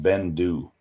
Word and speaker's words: Beinn Dubh: that's a bit pricey but it's it's just pronounced Bendu and it means Black Mountain is a thick